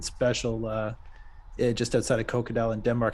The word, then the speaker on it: Kokkedal: it of course yeah so there is a g but uh you don't need to to say it oh another nice shot